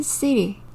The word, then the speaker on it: city: 읽으시면 CT 이렇게 되지요 하지만 원어민들이요 말하다 보면 티를 부드럽게 말하고 싶어해서요 자꾸 리을 소리를 해요 그래서 City 보다는 시리 씰이로 더 많이 듣게 되실 거예요 도시는 영어로 쓰리 기억해